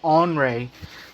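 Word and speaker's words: Henri: of course tropical storm henry uh actually it's pronounced andre uh if you actually didn't know that a lot of people think it's henry bits actually on ray so we'll be talking about that because that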